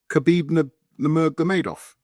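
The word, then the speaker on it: Khabib Nurmagomedov: Is it Is it Is it Kabib N the maid off? Yeah, that one. You nailed that.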